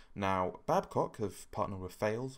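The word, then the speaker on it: Thales: Now, Babcock have partnered with Fales, or Fales, I think it's the French pronunciation, to produce the Arrowhead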